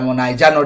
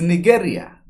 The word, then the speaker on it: Nigeria: You can't even pronounce the country name properly. No matter how much you baptize it, it is Nigeria. Nigeria. Niger area. That's what it is.